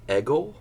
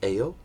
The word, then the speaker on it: Egil: and I know that it looks like it's eggle but it's actually pronounced Ayo so Ayo Saga is the first one that